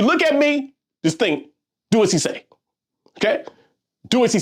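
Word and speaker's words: dieciséis: They kind of sound like what I'm saying. Do as he say. Dizzy, as he says. Dizzy, do as he say. Do as he, dizzy, siete. You see what I'm saying? So back to number 16. What? Do as he say? Do as he, dizzy, he says. Okay?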